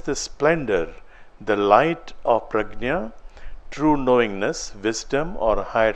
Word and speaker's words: prajna: splendor, the light of prajna, true knowingness, wisdom, or higher consciousness. It is not just knowledge. Prajna or pragyan, whatever, there are two different ways of pronouncing it. Pragyana or prajna, whatever, is not just knowledge.